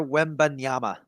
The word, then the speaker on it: Wembanyama: Victor Wembanyama.